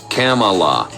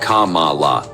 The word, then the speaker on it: Kamala: sort of mization that's how it is it's Kamala not Kamala Tucker but I suppose expecting attention to detail